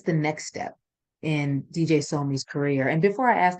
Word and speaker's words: Sohmi: name actually so yeah in Korean it would be pronounced more like somi um so me as opposed to like Sobe um but uh it's